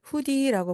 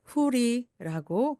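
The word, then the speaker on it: hoodie: 후드가 달린 티, 후드티를 후디라고 부르는데요. 사진에서 보시는 것 같은 그러한 티입니다. 그대로 후디 또는 후리라고 D가 모음 사여와서 리을처럼 변합니다. 후리, 후디 두 가지 다 맞는 표현입니다.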